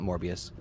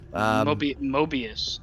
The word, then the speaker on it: Mobius: Shit, not Morbius. MODOK? No. Mobius. Mobius. Jesus. Drop the R, the hard R.